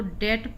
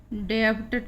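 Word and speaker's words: debt: होती है जैसे डीबीटी इसको डेट पड़ते हैं डेप्ट नहीं पढेंगे कि यह डेटर उसी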